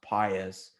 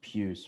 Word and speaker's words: Pius: well obviously it's so in the church it's pronounced pious but i think you know obviously he's pronounced pus but yeah um before